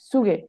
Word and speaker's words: Züge: না, এটা তো জেড, জেড তো জেড উচ্চারণ হবে। Züge. সঠিক।